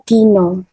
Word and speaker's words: Dina: jawabannya adalah Dino ya karena itu tulisannya Dina jadi dalam bahasa Jawa kita membacanya nya Dino Betul 100 E maaf